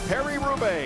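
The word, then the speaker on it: Paris–Roubaix: the world's best cyclist combat the cobblestones a Perry rube in demanding one-day Trek the Epic continues tonight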